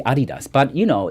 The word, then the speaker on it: adidas: you can hear it that you said adidas because that's the proper way of saying it sorry i don't want to blame anyone you can do whatever but a lot of americans say adidas but it's actually adidas but you know it's